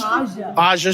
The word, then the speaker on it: Aja: This is Aja Smith? Aja Smith? Aja Smith. The J is silent.